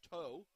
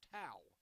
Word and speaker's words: Tao: And at bat for Greenwood is Abby Tao. She's a sophomore, wears number 22. I made the mistake, unfortunately, referring to her as toe, as in tow truck, but no, it's Tao.